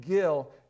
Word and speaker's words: gil: in the in your margin there the word spell it this way it's the original word g i l Gill everybody say I got some Gill I got